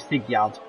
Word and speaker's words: Sigurd: And I do say it like Sigurd, because that's how you say it.